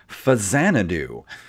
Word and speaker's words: Faxanadu: But it's actually pronounced Faxanadu.